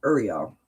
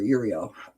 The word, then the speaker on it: Uriel: From Archangels Mary, Gabriel, and Uriel. Or Uriel, depending on how you want to pronounce it.